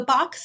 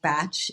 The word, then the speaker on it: Bach: yeah yeah so the box center or the batch center it's actually pronounced batch in the UK okay either way is